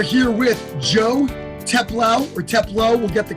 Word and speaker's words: Teplow: teplo we are here with joe teplow or teplo we'll get the correct pronunciation his really close friends and podcast hosts